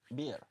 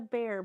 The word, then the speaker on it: beer: It's not a bear bowl. It's a beer bowl. But it's sometimes the way you say bear. You say bear. You pronounce it Norwegian because double E would be bear in Norwegian, but in English it's beer.